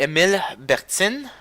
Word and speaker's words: Emile Bertin: Then after you have this, it's called the Emile Bertin.